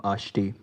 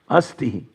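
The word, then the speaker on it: अस्ति: It should be asti, not ashti.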